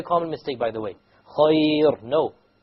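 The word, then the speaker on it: خير: Light, because there is a ya before it. Okay? Okay. If it is silent and preceded by a silent letter, and the third letter has a kasra, then it will be light.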